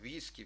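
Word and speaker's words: whisky: дуже легко Аналогічно двоїте ве так або подвійне в в американізмах і англіцизмах у слові віскі легко віскі Всі ми знаємо що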